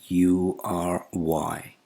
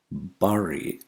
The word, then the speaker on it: bury: And the last word of this episode is bury. Bury is wrong, it's bury, bury. The first vowel sound is not A, it's E.